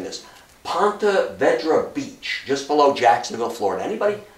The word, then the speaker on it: Ponte Vedra Beach: A week later, June 16th, 1942, U-485 drops four guys off of, I always have trouble pronouncing this, Ponte Vedra Beach, just below Jacksonville, Florida.